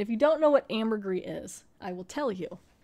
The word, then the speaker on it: ambergris: original story it did Amber gree can also be pronounced other ways I think Amber grease gray Amber it's got a